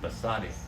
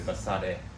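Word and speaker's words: בשדה: Basadi. It's really Basade. In the field.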